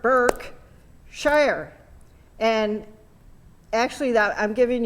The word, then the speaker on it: Berkshire: word that you can if you listen to how i said it there's two syllables in it you can sound it you can divide it into two sounds burke sure and it helps sometimes we when i used to teach this before i i used to have people clap how many sounds are in there there's a first part burke shire and actually that i'm